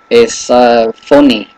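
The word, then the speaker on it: φωνή: en el griego es phoni, phoni. Entonces, solamente la mencionamos porque tal vez es alguna manera es la raíz de fono o telefón, telefone. Entonces, phoni es la pronunciación en el griego.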